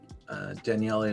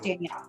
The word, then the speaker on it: Danielle: Today, Daniele. Did I pronounce that correct, Daniele? You got that last name, but my first name's just Danielle.